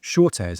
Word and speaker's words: Schotes: I'm joined today by Shortes. I just checked I've pronounced her name correctly who I thank goodness we checked in advance.